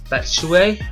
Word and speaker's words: Batshuayi: The Belgian striker who Chelsea now signed, Batshuayi, I think that's how you pronounce it.